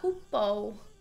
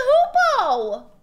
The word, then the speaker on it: hoopoe: What's a hoopoe? What is that? I've never, what is that? What's a hoopoe? Oh, it is! It's a hoopoe!